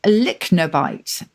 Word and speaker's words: lychnobite: The next one is a lychnobite. This is how you pronounce it, Lychnobite.